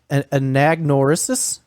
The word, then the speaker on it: anagnorisis: called something that i'm going to butcher the pronunciation of an anagnorisis agnerisus agnoris is it a-n-a-g-n-o-r-i-s-i-s yes and agnoris